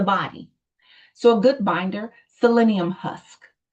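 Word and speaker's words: psyllium: So, a good binder, selenium husk. And selenium, most people try to spell it wrong because it sounds like it starts with a s, but it's p s y l i u m.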